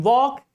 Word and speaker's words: walk: In walk, L. L is before K.